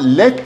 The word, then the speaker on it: lead: Hocam let diye okunuyor. Lead böyle yazılıyor ama let diye okunduğu zaman kurşun madeni demek.